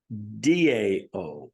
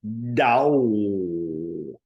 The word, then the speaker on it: Tao: Tao, pronounced D-A-O, Dao, Dao is the correct pronunciation, but spelled T-A-O, T-A-O.